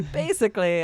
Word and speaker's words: basically: Basically, I'm just here for the coffee Yeah. and free Wi-Fi. And that one, 3 syllables, basically. Basically.